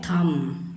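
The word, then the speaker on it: thumb: फिर है थम, तो वाह, ये होगी ना बात।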